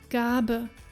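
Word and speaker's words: Gabe: letter is really interesting when we find it at the end of words usually it is pronounced as the so-called Shava sound and sounds like a soft uh uh as for example in the word Gaba meaning gift but then there is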